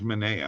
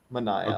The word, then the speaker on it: Manaea: Sean Manaea, yeah. I thought it was Manea. I'm sorry. No, it is a confusing name, but yeah, the announcers and everything say Manaea.